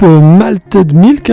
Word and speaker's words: Malted Milk: Et là à mes côtés j'ai un des membres du groupe Malted Milk. C'est comme ça qu'on le prononce. Oui oui, un petit peu à la française mais on a un groupe français donc c'est cool, tout va bien.